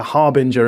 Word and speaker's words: harbinger: that was a a harbinger of what was to come because people say different things you think soft G um Harbinger yeah get rich if